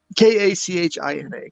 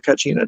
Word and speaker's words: Kachina: They had their, oh God, if I can pronounce it right, it's Kachina, Kachina.